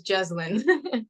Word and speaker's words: Jezzlyn: all streaming platforms right now I'm joining with j I hope I pronounced your name correctly how's it going it's good thank you for having me yes it's jine just yeah yeah some sometimes I tend to